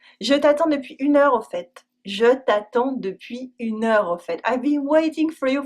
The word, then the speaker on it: au fait: Au fait Au fait means by the way. We use it to add something to the preceding conversation or line of thought. We always pronounce the t : au fait.